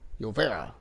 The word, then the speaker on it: Llovera: Whereas Llovera or Llovera, I'm going to properly pronounce it as today's starting pitcher for the Baltimore Orioles, Mauricio Llovera.